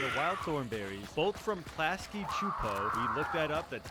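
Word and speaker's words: Klasky Csupo: the Rugrats and the Wild Thornberrys, both from Klasky Chupo, we looked that up, that's how you pronounce it, met up in a full movie called Rugrats Go Wild.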